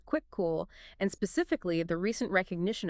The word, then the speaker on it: Kvikoo: That's pronounced quick cool.